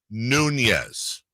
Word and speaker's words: Nunez: Am I correct? Nunez. Not quite. It's Nunez. Nunez. I did just find out from family that apparently it gets pronounced both ways. Yeah. But I've been saying Nunez my whole life, so I'm rolling with that one.